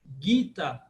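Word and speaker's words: Gītā: Mas como o A longo final, como o A é longo no final, então você parece que ele é um pouco acentuado. Gita, Gita, porque ele não pode ser Gito, tem que ser Gita, tem que ser aberto. Mas ele é uma paroxítona com o último A um pouco longo.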